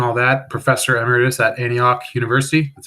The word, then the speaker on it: Antioch: your books and all that professor emeritus at antioch university that's how you pronounce that right antioch yeah yep um in new england and you